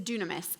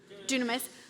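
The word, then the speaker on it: δύναμις: the New Testament is dunamis. Everyone say dunamis. Dunamis. looks like dynamis and it is where we get the English word dynamite but it is pronounced dunamis.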